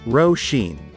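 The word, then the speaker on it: Róisín: we're going to learn on how to pronounce this name row sheen let's repeat row sheen once again row sheen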